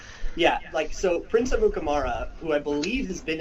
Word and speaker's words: Amukamara: jersey maker spells Akutamara's name right, if I pronounce it right. Prince Amukamara. Amukamara, there you go.